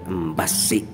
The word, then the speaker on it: Embassy: Awas bacanya pakai tasydid ya, Embasi begitu karena S-nya double.